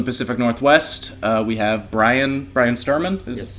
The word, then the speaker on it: Bryan Sturman: drifter from the pacific northwest we have brian brian sturman that's how you pronounce it uh thank you for coming in